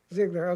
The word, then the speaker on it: Zeigler: the Carl W well in German Zeigler I don't know if you pronounce it Siegler exactly Ziggler okay professor of religion philosophy